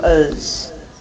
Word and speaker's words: as: Can you hear the way that I'm pronouncing as reduced to uz?